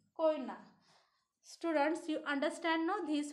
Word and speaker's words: Koyna: Koina. K O Y N E. Koina. Students, you understand now these words pronunciation?